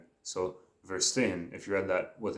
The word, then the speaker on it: verstehen: It is actually spelled Verstehen. So verstehen, if you read that with an English pronunciation, but V makes the F sound.